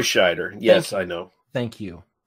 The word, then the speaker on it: Scheider: your insights, but please, it's not Schrider. And I probably mispronounced because, you know, I fucking do that all the time when I get drinking, so... Fair. Roy Scheider.